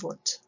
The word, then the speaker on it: Wundt: Remember that the Germans pronounce their W's with V's, so if you know the musician Wagner, they don't call him Wagner, they call him Wagner. So Wilhelm Wundt.